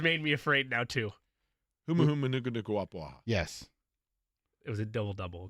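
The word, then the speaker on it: humuhumunukunukuāpuaʻa: I just butchered it there. The butcher has made me afraid now, too. Humu humu nuku nuku wapuaha.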